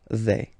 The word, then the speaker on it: vais: Remember, final S not pronounced. Je vais.